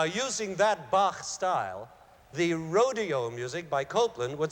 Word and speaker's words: Rodeo: Now, the great American composer Aaron Copland has borrowed this sound in his ballet Rodeo, or Rodeo, I guess you pronounce it.